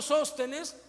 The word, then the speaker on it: Sóstenes: Algunos leen así, y sostenes. Y digo, no, Sóstenes. Tiene acento en la O.